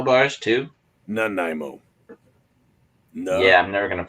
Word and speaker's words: Nanaimo: Did you put coconut in your Nemo bars, too? Nanaimo. No. Yeah, I'm never gonna figure out how to pronounce that.